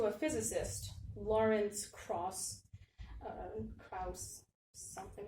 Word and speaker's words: Krauss: physicist lawrence cross uh krause something like that it's about k-i-a-u-s-s i think it's jordan um but i don't really know how to pronounce it so it's kraus krauss thank you so lawrence krauss